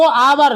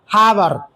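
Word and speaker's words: hour: एच ओ यू आर पढ़ा जाता है उसको आवर। लेकिन होता क्या है? हावर।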